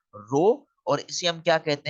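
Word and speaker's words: rho: उस कांस्टेंट को हम प्रोनाउंस कैसे करेंगे, आर एच ओ, रो।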